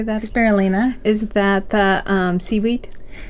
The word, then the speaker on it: spirulina: Spirulina.